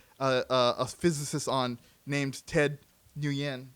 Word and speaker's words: Nguyen: But it's like the way it's supposed to be pronounced is. But Yen, I don't care.